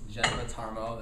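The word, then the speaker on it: Jeneba Tarmoh: A lot has been said about this Allison Felix Geneva Tarmo. That's actually how you pronounce her name.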